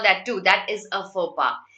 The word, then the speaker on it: faux pas: This is pronounced as faux pas.